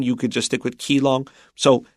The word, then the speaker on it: Keelung: of handling it so we're going to say keyong here because that's the way it's spelled and that's probably the way most people would read it in the middle of an English article okay our first sentence